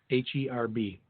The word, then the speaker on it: herb: HERB. Herb. Because there's an H in it.